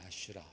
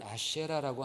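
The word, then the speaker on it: אשרה: 이 아세라를요, 히브리 원음으로 발음을 하면 아슈라입니다. 아슈라 또는 아쉐라라고 합니다.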